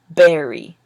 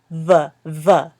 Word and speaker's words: very: Now, this one is hard for some people to pronounce, berry and very, because sometimes the b sound and the v sound are the same in their native language. So this one is berry, and this one is very.